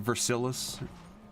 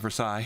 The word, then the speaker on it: Versailles: and that's the Roman Reign the Battle of versilis yeah I'm joking by the way I know it's the Battle of Versailles is different I want I literally saw a